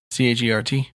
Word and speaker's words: chert: I even checked on how to pronounce it so we didn't have another CHIRT, I believe. fiasco. CHERT.